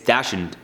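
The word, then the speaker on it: dachshund: It's not Dashhound though. I looked it up. It's Dashund. I think it's Dashund is how you say it. I used to say dash hound, but it's not, because that's not hound. You don't spell hound like that.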